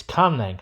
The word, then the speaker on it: Caunlang: It's Caunlang, spelt c a u n l a n g.